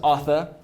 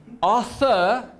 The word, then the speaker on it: Arthur: they absolutely butcher it somehow it goes from Authur to auur from a th to an F which makes me say